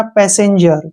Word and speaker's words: passenger: PA का उच्चारण हम पै के रूप में करते हैं, और ए का उच्चारण ए करते हैं, और SS का उच्चारण हम सै के रूप में करेंगे, और ई का उच्चारण ए के रूप में करेंगे। एन से न हो जाएगा, जी से जय हो जाएगा, ई आर का उच्चारण रे करेंगे हम। ये हो जाएगा हमारा पैसेंजर।